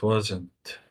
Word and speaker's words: wasn't: okay do you know a lot of times the T becomes silent in English so uh it's okay to say it wasn't if you want but